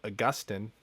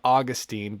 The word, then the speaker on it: Augustine: I can quote Augustine or Augustine, because some people are offended at with the pronunciation, you know. I'm so nice. Like I generally don't. Anyway, apparently it's Augustine if you're smart, and it's Augustine if you're just an average person, whatever.